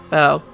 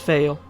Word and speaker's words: Val: Oh, that's how you say it. Val. I always said it was Vale. Then again, there's no I.